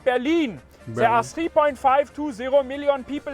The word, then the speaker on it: Berlin: The biggest and also the capital city is called Berlin. There are 3.520 million people living there. It is not Berlin or Berlin, it is Berlin.